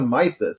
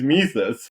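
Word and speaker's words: Mises: this Austrian econom Economist Ludwick F mes like yeah you have around for a long time because his name is misus like stop T there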